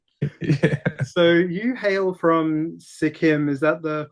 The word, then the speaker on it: Sikkim: So you hail from Sikkim. Is that the correct way to pronounce that?